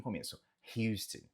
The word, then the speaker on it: Houston: De forma geral, Houston. Pronuncie esse H aqui no começo. Houston.